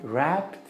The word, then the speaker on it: wrapped: coin wrapped in a pound note. خلي بالكم كلمة wrapped في W قبليها، ما بتاخدوش بالكم منها، ما بتتنطقش، لكن هي wrapped بتبقى WRAPPED.